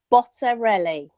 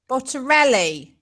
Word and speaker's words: Bottarelli: Yeah, it's kind of like if you sing it a little bit, it helps. Like Bottarelli.